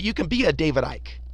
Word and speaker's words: Icke: can be a David Ike I don't know why people insist on calling them David iky without just watching a YouTube video and figureing how to say his name um you can be